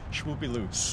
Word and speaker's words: Shwoopy Loops: I will put the description below for all the, how do you pronounce it again? SHWOOPY Loops.